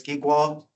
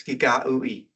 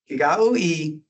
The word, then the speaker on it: Giga'ui: In English, I have pronounced this as Gigwa, but it's Giga'ui, right? Nothing like it looks. Cherokee is quite different. Giga'ui, if the woman earns